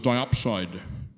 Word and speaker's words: diopside: underneath you had something called a let's say pronounced as diopside so are you separating the last tonight from